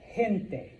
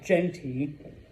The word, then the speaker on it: gente: So before an E or an I, which is right here, this word is gente. Okay? Clase, please repeat. Gente. Yeah, it's not genti or gente. All right? Gente. All right? Like an H.